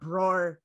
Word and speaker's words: Bror: Is it safe to say that Bror, is that how you pronounce it? Yes, it is. Oh, fuck yeah, I nailed it.